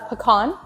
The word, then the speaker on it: pecan: how it's said yeah it's a pecan it's not pecan it's not pecans pecan it's pecan yeah there's a lot of different ways to say it so it's pecan p-e-c-a-n oh don't say pecan